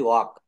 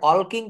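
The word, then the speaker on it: walking: আই এম ওয়ালকিং কেউ কিন্তু বলি না। আই এম ওয়ালকিং এটা আমরা কখনোই বলি না। কেন বলি না? এখানে এল হচ্ছে সাইলেন্ট লেটার।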